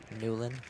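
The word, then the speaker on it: Nieuwland: how to pronounce things you pronounce my last name n i e u w l a n d nulan ooh okay fine yeah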